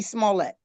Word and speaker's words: Smollett: How you pronounce his Smollett.